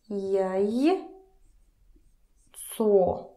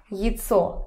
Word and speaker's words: яйцо: Jaj. Co. Jico. Egg. Egg. It's not pronounced as jajco. Jajco. Here is the stressed vowel. It's jico. Jico. Kind of like I again.